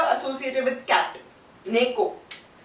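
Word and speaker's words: ね: And this one is the letter associated with cat, Neko. This pronunciation is Ne.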